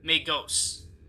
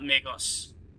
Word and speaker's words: Magos: for Latin right yeah it would be pronounced with the RG long o May ghosts not Migos I say it like Jose not like the name Jose May Jos or majos okay that that makes